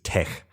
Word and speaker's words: TeX: but it's actually latch and then TCH is Tech slightly confusing um but that was a uh